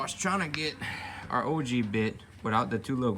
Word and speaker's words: ogee: These are both OG bits, and it's spelled OGEE, and that is the design right